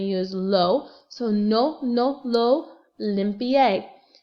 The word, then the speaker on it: limpié: So no, lo, limpié. L-I-M-P-I-E, accent on the E.